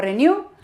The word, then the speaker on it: Renu: Lo pronunciamos renew. Pero se escribe Renu y en las redes